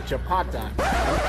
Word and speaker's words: chapati: What does the Kenyan woman rate the chapati? Am I saying it right? How you say it again? Chapati.